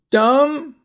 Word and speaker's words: dumb: Notice you don't say climb, you just say climb, so the B is silent. Climb the hill. Comb your hair, C-O-M-B, comb. Crumb, like a cracker crumb. Dumb, like a dumb question.